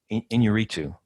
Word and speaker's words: Inarritu: Alejandro Inarritu.